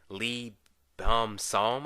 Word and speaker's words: Lee Beom-soo: But the guy who plays Yoo Jung-won, Lee Beom-Soo, I think that's how you pronounce it.